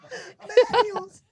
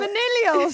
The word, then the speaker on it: Millennials: How do you say that word? Millennials. Millennials. Oh, Minnellials.